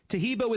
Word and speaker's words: Tahibo: Tahibo is spelled T like Tom, A-H-E-E-B like boy. Oh, that's Tahibo, and then continue with the word tea, and then the word club.